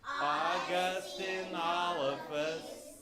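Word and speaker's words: Augustynolophus: Can you say August? August. Inolphus? Inolphus. Morrissey. Morrissey. So you put it all together, it's Augustinolphus Morrissey.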